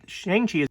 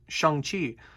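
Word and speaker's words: Shang-Chi: and also i did say shang chi because shang chi is actually the incorrect pronunciation of the name i did not know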